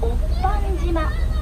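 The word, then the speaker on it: 御飯島: した島は御飯島と書いておっぱん島と言います。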